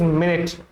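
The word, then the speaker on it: minute: मिन्यूट नहीं है ये, इट इज मिनट, माइन्यूट मत बोलना है ना, वो अलग चीज हो जाएगी।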